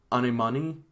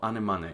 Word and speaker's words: Anemone: But Anemone, Anemone. Sure, track 12, Anemone.